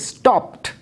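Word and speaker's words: stopped: এরপরের শব্দ স্টপ, লাস্টের সাউন্ড হচ্ছে প, সুতরাং কী হচ্ছে, স্টপড, ইডি যুক্ত করার পরে লাস্টে ট সাউন্ড আসছে।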